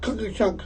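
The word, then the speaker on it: Tkachuk: Matthew talking chunk cookie chunk I think is how you say it.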